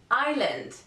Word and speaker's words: island: time for letter s in some words the letter s is not pronounced if it comes before the letter L a very very famous example would be island and not Iceland that's a country island